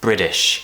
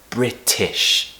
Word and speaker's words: British: The first word is British. An American would pronounce this as British. If you want British pronunciation, pronounce the word British as British. T, t, not British.